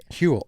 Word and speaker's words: Huel: Huel, H-U-E-L. Huel, like the dude from Breaking Bad.